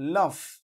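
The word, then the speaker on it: laugh: শব্দে ফ এর মত উচ্চারিত হয় যেমন দেখেন লাফ এল এ ইউজি এইচ লাফ লাফ মানে কি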